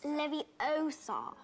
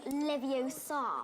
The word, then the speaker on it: Leviosa: excited to watch this you're saying it wrong it's Leviosa not Leviosa ah levio's song moving